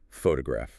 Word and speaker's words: photograph: Take the word photograph. Okay, photograph. The stress is heavily on the first syllable. pho-to-graph The other syllables are weaker.